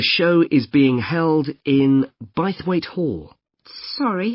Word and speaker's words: Bythwaite: free and the show is being held in bythwaite Hall sorry how do you spell that b y t h w a i t e bite weight is it easy to find I'm not very